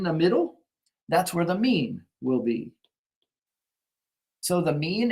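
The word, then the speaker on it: μ: of it and that is the Greek letter me it's pronounced oops me and so while it's perfectly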